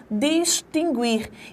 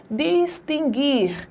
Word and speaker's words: distinguir: Checar, olha só, este U que aqui aparece não tem som. Ele pertence ao encontro GU-QU. Isso implica dizermos que aí, ó, há a presença do dígrafo e não do ditongo como nós pronunciamos. Distinguir, não. Distinguir. Esse U não tem som.